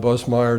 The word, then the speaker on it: Busemeyer: It's spelled Buse, but you pronounce it Bus. Right. Yeah, we pronounce it Busemeyer.